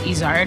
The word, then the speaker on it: Izard: All of the goat restaurants started with my last name, which I say Izard, but in French it's Izard, which is a mountain goat that lives in the Pyrenees Mountains.